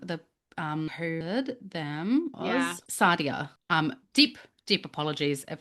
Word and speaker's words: Sadia: S A D I A. Sardia. Sadia. Um but thank you so much for the suggestion. Shia. No, cuz there's no there's no no H in there.